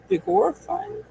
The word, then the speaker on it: Vigorfun: They're from Vigor Fun, I believe is how you say the name.